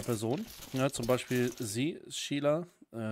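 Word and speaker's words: Síle: Ja, zum Beispiel sie, Sheila. Wo ich glaube immer noch glaube, dass eigentlich Shiala ausgesprochen wird.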